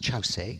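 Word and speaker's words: Kyaukse: And the third place, very important for us in our tradition, is Chause. It's spelt Kyorkse, but pronounced Chause, and Chause is what I'll call it all the way through this talk.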